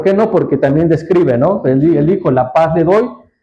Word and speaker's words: Noé: Noah, que no han puesto como Noé, pero Noé es la pronunciación.